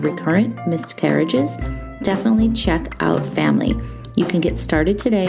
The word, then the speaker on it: Famlee: imbalances, male factor, and the always frustrating unexplained infertility, Family is helping women and couples find real answers,